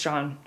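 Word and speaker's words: Jon: I mean, it's spelled J-O-N, but it's John.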